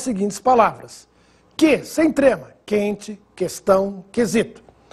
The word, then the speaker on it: quente: pronunciado nas seguintes palavras: que sem trema, quente, questão, quesito. Você notou se eu pronunciei a letra U? Não.